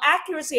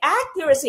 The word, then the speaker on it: accuracy: So ito po, no, accuracy and precision are not the same thing, sabi ng ating slide. When you say accuracy, again, your stress is on the first syllable, hindi po accuracy but accuracy, okay?